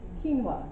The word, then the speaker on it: quinoa: There's another ricey type thing, it has a weird name and it's mispronounced a lot. Quinoa, yeah, quinoa, that's really good.